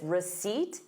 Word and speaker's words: receipt: So notice receipt, you have the word seat in it.